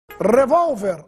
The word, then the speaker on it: revólver: revólver sor éter hambúrguer revólver Agudo ó você não ficar revolver aí é verbo Senior circunflexo no e